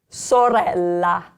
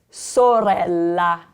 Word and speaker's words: sorella: The first one, sorella. Sorella. So it's at the beginning of a word. It's soft. There's a double consonant, so you rest slightly longer on that sound.